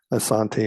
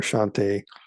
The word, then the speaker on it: Asante: So again, these people, the Asante or Ashante, spelled differently, pronounced differently, they are largely through